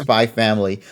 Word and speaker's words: Spy x Family: just to clarify, yes, it's called Spy X Family, but I believe just like with Hunter, nobody ever pronounces the X part, so they just say Yeah. Spy Family.